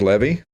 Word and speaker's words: Levy: We just had George Levy, rhymes with Chevy.